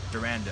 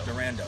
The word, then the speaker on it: Durando: how do you say your last name durando durando so this is durando and uh he